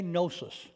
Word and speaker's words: gnosis: okay i've given you these words before say gnosis okay it's spelled g-n-o-s-i-s we get our word gnostic from